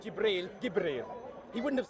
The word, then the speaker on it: Jibril: fact hundreds insurgency the Muhammad Muhammad would have pronounced Jibril Gabriel he wouldn't have said you believe mr.